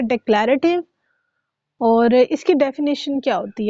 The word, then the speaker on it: डेक्लेरेटिव: ये देखिए, डी ई C, deck, L ए लै, ठीक है, डेक्लेरेटिव, ठीक है, डेक्लेरेटिव। ऑलराइट, इसके 3 कॉम्बिनेशन आपने बनाने हैं। डेक्लेरेटिव, ओके, फर्स्ट इसकी है डेक्लेरेटिव, और इसकी डेफिनेशन क्या होती है?